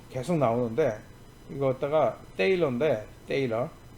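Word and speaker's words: Thaler: 그래서 이번 강좌에서 세일러 계속 나오는데 이거 갖다가 테일러인데 테일러 세하고 때하고 중간 발음이에요.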